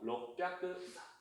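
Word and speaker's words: 六百: 그래서 록뼈크, 핫뼈크 요것만 발음에 좀 유의를 해주세요.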